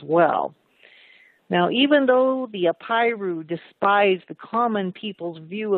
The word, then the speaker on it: Apiru: was the Apiru, and I'll spell that. It's A-P like Paul, I-R-U, the Apiru.